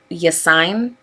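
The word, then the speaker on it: Yassine: video is about hello yes sign i think that's how you say his name y-a-s-s-i-n-e uh i've watched some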